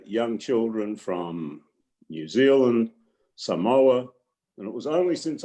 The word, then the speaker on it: Samoa: children from new zealand samoa and it was only since i started working at parkville that i learned that it's not samoa it's samoa and i'm very quickly